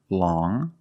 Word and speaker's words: long: has five different pronunciations first we see long with the sound which is a nasal sound long but then you have